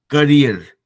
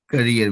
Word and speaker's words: career: करियर का pronunciation सुन के हमको अच्छा लगा, बिकॉज वी डोंट ऑल से करियर, वी एंड up saying कैरियर. कैरियर जो होता है वो साइकिल के पीछे होता है, उसको कैरियर बोलते हैं, जो कैरी करता है. तो करियर जब भविष्य की बात कर रहे हो तो that is when you have to से करियर एंड you pronounce it right.